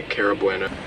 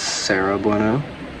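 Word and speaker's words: Sara Bueno: And Mike's mother, Karen Wheeler, played by Cara Bueno. Editing Logan here again. Um, I know I mispronounced her name. I believe it's Sarah Bueno.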